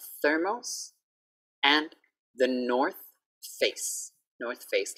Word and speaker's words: The North Face: For TH, we need to have our tongue out. So don't be shocked when you see my tongue.